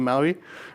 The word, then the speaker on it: MAUI: The P is silent because MPAUI doesn't sound very nice compared to MAUI, right?